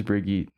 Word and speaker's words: Brigitte: Brigitte. I think it's Brigitte. Someone said Brigitte. Correct us in the comments. Is it Brigitte or I think Brigitte? it's like Brigitte. Or neither? It is Brigitte.